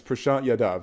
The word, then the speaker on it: Prashant Yadav: It's Prashant Yadav.